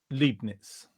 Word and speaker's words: Leibniz: Ian Coulson, he says Liebe is love and pronounced Liebe, and Leibniz with E-I, not I-E, is pronounced Leibniz.